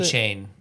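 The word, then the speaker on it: Achane: I saw Devin Achney, is that how you pronounce it? A-Chain.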